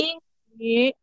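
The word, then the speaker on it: 英语: Jadi dia mulutnya u tapi suaranya i. Ing, yu. Boleh lagi? Yin yu.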